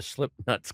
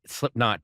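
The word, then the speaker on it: Slipknot: So I queued it up to where the slip nuts come on and I go, "Hey, I recorded uh the the Slipnuts last night." And he's like, "Slipnot, dude." Like like I'm mispronouncing it.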